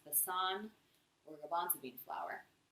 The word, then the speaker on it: besan: It's also called gram, it's also called, I think it's pronounced besan, or garbanzo bean flour.